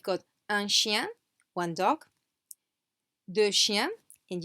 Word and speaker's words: deux chiens: So here, as I said, we've got un chien, one dog, deux chiens, and you can see that this X is not pronounced. Deux chiens, deux chiens. Neither is this final S, deux chiens.